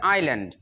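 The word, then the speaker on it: island: আইএস ইজ এল্যান্ড, ইল্যান্ড ইজল্যান্ড হবে না, উচ্চারণ হবে আইল্যান্ড, ইন দি আইল্যান্ড town,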